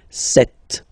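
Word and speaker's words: sept: Alright, then here remember P is not pronounced. Okay, it doesn't exist, so you get this set sound.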